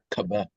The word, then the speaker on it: Kaba: Okay, how do you pronounce that name? Kaba, Kaba. Kaba?